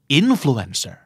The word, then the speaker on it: influencer: เอ่อ infants in Bloom and เซอร์ 2 พยางค์หลังเป็นทวารนะครับอ่อนเซอร์อินเฟรนเซอร์ influencer นั่นคืออินเฟรนเซอร์ครับอย่ามาทำเป็น innocent innocent คืออะไรครับใสซื่อบริสุทธิ์ทำเป็นไม่รู้ไม่ชี้ On ตอนโลกซื่อใสไร้เดียงนะครับนั่นคือ innocent เจ้าของภาษาออกเสียงว่า in Essence in ถูกเน้นครับเนื้อสัน 2 พยางค์สุดท้ายเป็นช่วงอีกแล้วนะครับ in